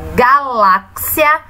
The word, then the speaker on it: galáxia: A sílaba acentuada é a sílaba lá. Então, a sílaba tônica da palavra galáxia é a sílaba lá. E ela está na penúltima posição, porque a última é a galáxia.